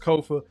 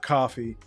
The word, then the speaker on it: Kofa: I have been your humble host, Kofa, K-O-F-A, not coffee, not, not Kofi, or any variation thereof. Kofa rhymes with sofa.